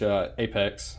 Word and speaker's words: APX: Oh, speaking of which, I did order an APX, which Apex is how they pronounce it, Tier 1 concealed holster for the P10C.